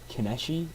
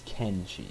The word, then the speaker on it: Kenshi: of the game um I think I was saying something like kesi or something like that uh it's keni so k and she um I do apologize